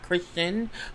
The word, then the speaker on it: Christian: But I keep mispronouncing it, and I don't want to keep mispronouncing it because I keep saying Kristen, which is the female version, not Christian, which is the male version.